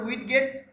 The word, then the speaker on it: widget: অনেকে উচ্চারণ করে উইড গেট, অনেকে উইজেট বলে, ঠিক আছে।